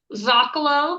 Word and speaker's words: Zocolo: So it's Zakalo, but it's spelled Zokalo. So it's Z O L O.